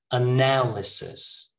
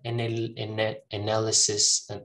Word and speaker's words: analysis: in the middle here analysis not any analysis no analysis all right look this